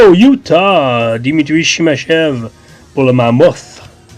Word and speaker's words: Mammoth: Dimitri Shimachev pour le Mammoth. Faut vraiment prononcer le H, hein? Le Mammoth. Le Mammoth.